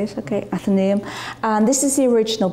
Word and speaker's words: Athenaeum: Frederick spoke in the and I hope I pronounced it wrong at the name that's how you say it okay Athenaeum and this is the original building and sadly